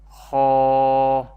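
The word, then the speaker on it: خ: Ghain and Kha, pronounced from the top part of the throat.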